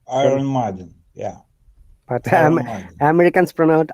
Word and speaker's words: Iron Maiden: ibrahim and driven but in iron they don't pronounce r so it is iron maiden they say iron margin yeah but um americans